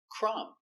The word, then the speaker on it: crumb: Example, crumb. The B is silent. You have NB at the end.